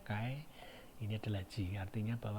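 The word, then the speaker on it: χ: dibutuhkan dengan simbolnya adalah kaycee ini bacanya Kai ini adalah Jin artinya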